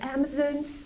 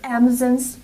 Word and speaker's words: Amazon: Amazon's Warehouse Amazon's Warehouse the word is not pronounced Amazon it's pronounced Amazon Amazon use the open Sound ah on Amazon we cannot say Amazon it's Amazon it's important because this is a stress syllable Amazon we have a stress on the first and third syllable so it's important to